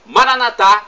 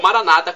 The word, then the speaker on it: Maranatá: E agora, do aramaico, dialeto de Jesus, eu clamo Maranatá, como dizemos nós católicos, ou Maranata, como dizem nossos irmãos evangélicos ou protestantes. Não importa a pronúncia.